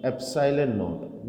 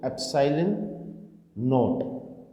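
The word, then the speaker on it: epsilon naught: तो बेटा k equals to होगा 1/4 पाई एप्सिलॉन नॉट। ये प्रोनाउंसिएशन अच्छी तरह से सुने इसको, एप्सिलॉन नॉट।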